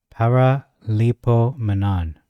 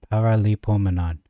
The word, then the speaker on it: Paraleipomenon: long in Greek it's ancient Greek it is pronounced par Lio Manan paralo Manan so let's read these tabs and understand why